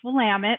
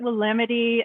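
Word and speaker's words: Willamette: of water is the wamama river and it's pronounced wamit a lot of people pronounce it wamity and Oregon I mean Oregon it's or Oregon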